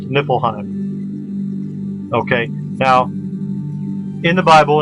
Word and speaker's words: Niflheim: here but it's usually spelled with an F pronounced nipple Heim okay now in the Bible in the New